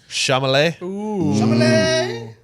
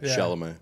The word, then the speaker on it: Chalamet: It has Joel Egerton, Robert Pattinson, Timothy Chalamet. Did I say his name right? Chalamet. Chalamet.